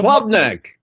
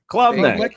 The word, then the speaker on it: Klubnik: The quarterback from Clemson, Cade Oh, Klubnik. Klubnik.